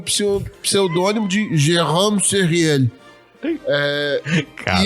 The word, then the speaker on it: Jérôme Sériel: Mas, fala, Eduardo, como é que é a pronúncia correta? Tá certo, Jérôme Sériel.